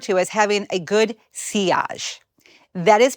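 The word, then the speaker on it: sillage: Often referred to as having a good seage. That is pronounced seage which is French for wake or trail like the wake left by a boat.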